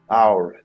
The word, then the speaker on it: hour: Now, listen, circle the word where H is not pronounced, where H is silent.